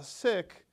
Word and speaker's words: Sikh: Now, if I say sick, I say it with a hard K at the end, right? So it's an aspirated K, like you're gonna spit in somebody's eye. Sick.